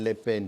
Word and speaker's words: Le Pen: Estava havendo essa possibilidade, a Marine Le Pen estava lá na frente. Aliás, eu queria fazer um pequeno parêntese. Se pronuncia Le Pen, porque tem muita gente que